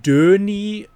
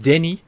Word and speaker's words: Denis: It starts with Denis, which is much too over accentuated, because it's just Denis. Denny? It's But a without the Denis. S. Without the S, of course, Yes. of course. A lot of people say Denis Villeneuve, There we go, yeah. wrong, because French S goes away.